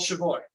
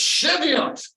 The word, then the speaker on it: Cheviot: you moved up settled a little town called shavoy excuse me I mispronounced that you know so I said that's